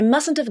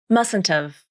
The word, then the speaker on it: mustn't have: I mustn't have gone with you. Here's how you pronounce it. You drop the H in have and reduce the vowel to the schwa, just like you did before.